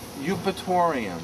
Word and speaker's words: Eupatorium: Eupatorium. Spell it.